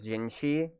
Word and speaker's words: GYEE: get some materials for gingi and I've seen the debate about her name which it's totally understandable because it's pronounced as gingi and in China how